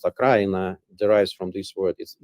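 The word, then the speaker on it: Украина: So I would say that also when we say Ukraine, the word Ukraine in Russia means it is pronounced Akraina, derives from this word.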